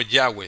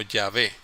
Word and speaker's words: Yahvé: Y yo creo que en mis principios yo escuché más ese nombre, Yahvé. Y no Yahweh, sino Yahvé.